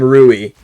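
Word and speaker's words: Louis: yeah Lou okay but they do they do say his name ruie with an r instead of an L um yeah I want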